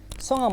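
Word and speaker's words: 성함: গেলাম এবার দেখেন সংহাম সংম মানে কি নাম সংম মানে নাম এখানে হিউতের উচ্চারণ বলি তো হিউতের উচ্চারণটা আমি বলবো না এটা উচ্চারণ করে না অরজিনালি তো আপনি অল্প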